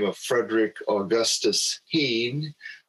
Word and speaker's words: Hihn: a man by the name of frederick augustus heane spelled h-i-h-n but pronounced teen who was uh quite the developer around santa